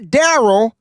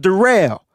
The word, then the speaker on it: Darrell: we go Darrell looter not Daryl is spelled Daryl it's pronounced derail Darrell Luder Jr looks